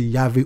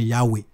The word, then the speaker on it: Yahvé: Ce sont des consoles qu'on peut prononcer Yahvé ou bien Yahwé.